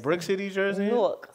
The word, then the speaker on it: Newark: Newark. Spelled like four.